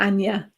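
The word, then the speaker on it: Aine: um yes and then there's aim a-i-n-e and it is pronounced anya or anya yes there are lots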